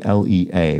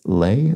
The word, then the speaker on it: lea: Dragon Traces also corrects my improper pronunciation of lea, L-E-A, which I think I said as lay, perhaps, L-E-A. Preferred pronunciation, says Dragon Traces, is lea. And that refers to a meadow.